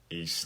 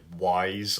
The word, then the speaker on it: Ys: did, because I love East 9. East, a lot of people would call it like Wise or something like that, because it's spelled Y-S.